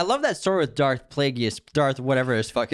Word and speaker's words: Plagueis: stop people from dying plagueis yeah plagueis not plagues plagueis yeah darth plagueis